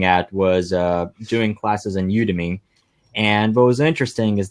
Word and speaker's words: Udemy: Udemy. Mm-hmm. Udemy. Like Academy.